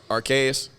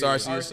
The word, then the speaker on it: Arceus: what what is it am I pronouncing right archaeus is that the way you say it I thought it was Arceus but Arceus it's RCS all right yeah correct me RCS